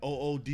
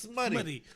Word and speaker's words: Smuttie: I've gotten OODY. You know what I'm saying? I've gotten OOTY. Yeah. You know what I'm saying? OOTY, but it's SMUTTIE. You know what I'm saying? Which is pronounced smutty.